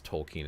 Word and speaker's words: Tolkien: I think it's Tolkien is how it's pronounced.